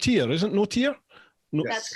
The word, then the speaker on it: Notier: and this week we have tim and marissa it's not here isn't note here that's correct that's how you pronounce it yeah uh tim and marissa notia